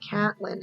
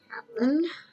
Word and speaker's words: Catelyn: It's spelled Caitlin, which explains why the narrator to the audiobook says Caitlin. That's Caitlin. Why do we call her Catelyn on the show?